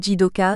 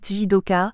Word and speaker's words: jidoka: neuf Kaizen prononcé kzen jidoka on devrait prononcer jidoka mais dit jidoka mudda mudda Mura Moura